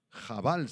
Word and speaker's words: abal: en la segunda a aval jabal se pronuncia en hebreo y significa Lamento tristeza